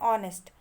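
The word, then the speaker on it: honest: Then है ऑनेस्ट. ऑनेस्ट में H silent है.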